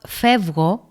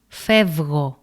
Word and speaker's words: φεύγω: On the other hand, in the word φεύγω, Ypsilon is pronounced as v. φεύγω.